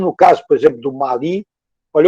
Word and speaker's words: Mali: Olha, eu continuo dizendo Mali porque eu conheço o Mali, eles pronunciam assim. A mim me parece que dizer Mali é meio gringo, mas já sabe, não vou fazer guerra por causa disso.